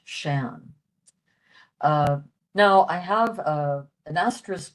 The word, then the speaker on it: sean: Interestingly, the word, how we spell Sean here in the United States, S-E-A-N, is the word for old in Irish, and that's pronounced Shan.